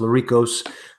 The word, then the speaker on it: Lericos: go by my my full name last name is pronounced la Rico's and we have all